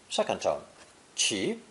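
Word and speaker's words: 骑: the horse radical to create a new character pronounced second tone chi chi as i explained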